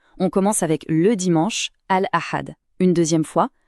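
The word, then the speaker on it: الأحد: Je vais prononcer chaque jour et l'idéal, c'est de répéter après moi. On commence avec le dimanche, Al-Ahad. Une deuxième fois, Al-Ahad.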